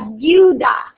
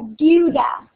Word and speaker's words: deuda: La deuda. La deuda. That's a little different to pronounce. You kind of combine the EU.